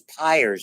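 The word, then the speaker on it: Peyer: of in the gut those Pyers that's the way you pronounce the name they're all over your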